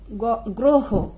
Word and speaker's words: গ্রহ: তার সাথে যদি অ থাকে তাহলে অ এর উচ্চারণ সাধারণত ওকারের মতো হয় যেমন গ গ্রহ গ্রহ শব্দ প্রথমে গতে অ আছে এবং তার